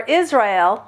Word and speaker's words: Israel: Yes, Israel or Israel means struggles with God.